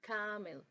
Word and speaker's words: camel: But camel, camel, you don't say camel, camel, it's camel, camel, with the schwa sound in the second syllable.